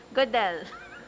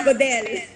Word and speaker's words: Godel: Godel. Godel. Oh, yeah. Yes. Very Pinoy. Correct. Matigas, Godel.